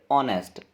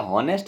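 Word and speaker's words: honest: अगला देखते हैं question choose the silent letter in the word ऑनेस्ट। इसको क्या हॉनेस्ट नहीं पढ़ते हैं, क्या पढ़ते हैं ऑनेस्ट, ऐसे पढ़ते हैं इसको ऑनेस्ट। तो इसमें एच क्या हुआ, साइलेंट लेटर हुआ है ना।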